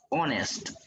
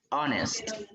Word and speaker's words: honest: En este caso vamos a pronunciar estas palabras honest, honest. Inicia con un sonido de vocal, no es solo porque